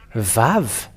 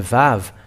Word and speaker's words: vav: uh the the the VAV the VAV um because it is called as VAV it is pronounced as a v even in araman or Square Hebrew they all say that this is a V and that is to